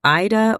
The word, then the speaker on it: Aida: And then you also get a piece of AIDA cloth, and you can say it AIDA or AIDA, like the opera.